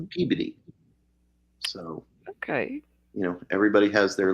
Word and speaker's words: Peabody: Like up in Massachusetts, Peabody is pronounced Mhm. Peabody.